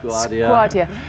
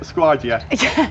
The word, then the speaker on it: Skwardya: Is that how I pronounce that properly? Skwardya. Skwardya. Very good. That's it, Skwardya.